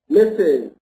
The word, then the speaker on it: Mrs: this okay misses but this s here is pronounced misses okay and here we have